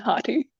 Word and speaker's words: Hati: So this one, Scott, I'm probably pronouncing it wrong. Skull and Haiti? Skull and Hati.